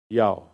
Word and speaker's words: Yahweh: YHWH. It's breathing sounds. Yahweh.